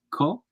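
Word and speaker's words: 코: here but he says nose is Korean is pronounced co uh and rain is pronounced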